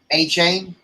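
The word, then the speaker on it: Achane: A-Chain.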